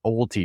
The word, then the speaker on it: owelty: And that's called an OWLTY deed. It's spelled OWELTY.